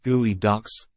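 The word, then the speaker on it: geoduck: health of underwater environments geod duct pronounced gooey ducks are a type of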